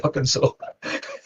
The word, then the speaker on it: Arkansas: Well, it's not spelled like that. Definitely Arkansas.